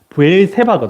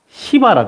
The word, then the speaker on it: 브엘세바: 남기게 하기 위해서이 발음을 여러분 이거 이제 히브리어 발음 정확하게 하면 이게 브엘세바 든요 예 근데 이제 영어 미국 사람들은 이걸 발음을 어떻게 하냐면 시바라 그러더라고요 예 그래서 브엘세바에서 엘리야가 무엇을 했냐면요 세바